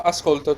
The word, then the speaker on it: ascolto: The stress is on here in the middle syllable, yeah? It's a piano word.